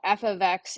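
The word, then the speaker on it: f(x): For instance, here we have what we call f ofx= -3x + 5. We pronounce the beginning of this the F of X.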